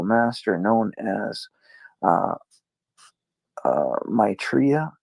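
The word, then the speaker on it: Maitreya: known as uh uh Maitria. Is that how you say it? How did you say it again? Uh Matraa. Matraa. Okay. Okay. Matraa. There we go.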